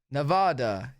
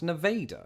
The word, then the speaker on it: Nevada: for this what's that there's a city in Iowa with the same name it's pronounced Nevada Nevada I give up an easier one yo that's sick Darth Vader bro nevader it's pronounced Nevada I give up bring